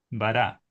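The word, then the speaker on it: ברא: No se pronuncia la alef.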